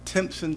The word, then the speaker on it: Timpson: But we always like to start at the beginning, and I think it's pronounced Timpson, Texas.